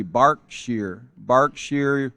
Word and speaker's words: Berkshire: I had to look it up because I wasn't even sure how to pronounce that, but it's actually Berkshire, United Kingdom.